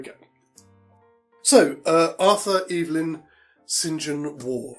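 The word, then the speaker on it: St John: So uh Arthur Elin Singen War I don't know if it's pronounced Singen. I'm getting that from a Bond film but it might be St. John but I think it's Singen War.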